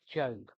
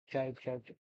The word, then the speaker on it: Job: and you're looking down, Job, and you think, I can't find it. That's because it's spelt J-O-B, not J-O-B-E. So, yes, it looks like the Book of Job, but no, it's the Book of Job.